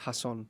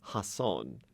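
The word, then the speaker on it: Jasón: However, in this adaptation, you could call it, it's pronounced Hasson. Hasson.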